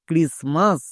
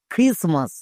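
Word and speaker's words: Christmas: আর আই এস ক্রিস এখানে টি কিন্তু silent আমরা জানি এম এর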